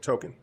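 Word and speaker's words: Tōkon: I might be saying the name wrong. Yeah, no, you're saying right. Token.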